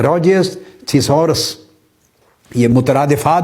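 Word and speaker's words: Roget: scientist है Peter mark रोजे लिखने में आर ओ जी ई टी लिखते हैं रोजेट की तरह मगर पढ़ने में पीटर मार्क रोजे यह भी ब्रितानिया का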